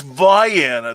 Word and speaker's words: Vienna: seven kinds of hell we're calling it vienna and they're like it's vienna there's no other pronunciation i'm like don't you